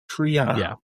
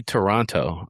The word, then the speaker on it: Triano: How do you say his name? Toronto? Jay Triano. Triano. Yeah, okay. That's how you say his name. Jay I thought Triano. Murray said Jay Toronto.